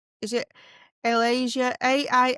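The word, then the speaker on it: Ailaysa: So there's one called Alasia. a laser. It's spelled A I L A Y S A.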